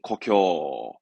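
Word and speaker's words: 故郷: 발음은 고쿄, 고쿄, 고향, 고쿄.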